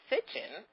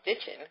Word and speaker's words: Sitchin: Zachariah, and I'm going to say his last name right, Sitchin, not Stitchin, which I keep being told is not the right pronunciation, has a new book out about the giants that walk the earth.